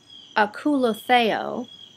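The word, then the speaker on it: ἀκολουθέω: word follow in the greek which actually is pronounced akula theo when jesus said come follow me that word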